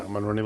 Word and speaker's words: Monroney: Yeah, Monroney label.